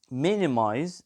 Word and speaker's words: minimize: to the stressed syllable we have minimized the stress is on the first syllable minimize we have protect the